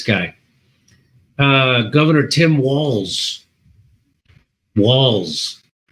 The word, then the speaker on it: Walz: uh Governor Tim walls walls does that sound like it should be spelled with two L's and S but it's not spelled with one L and one Z Tim Walls so he